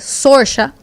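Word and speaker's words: Saoirse: Ella es irlandesa, entonces su nombre ya es complicado, pero yo sé que su nombre se dice Sorsha, pero se escribe Soar y la y el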